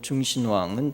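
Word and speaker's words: 中新网: 지난달 11일 중국 중신망, 중국 발음으로 중신왕은 다음과 같은 내용을 담고 보도했습니다.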